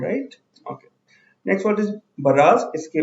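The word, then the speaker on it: barrage: Okay, next word is बराज। इसके pronunciation में ध्यान दीजिएगा।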